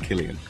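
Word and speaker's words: Cillian: Murphy went vegan and it's pronounced Killian sorry as I just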